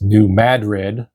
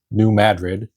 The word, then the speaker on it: New Madrid: New Madrid is pronounced New Madrid by locals. And okay, so I was saying Madrid. It's Madrid, New Madrid, to the locals there, as opposed to the city in Spain, the capital of Spain.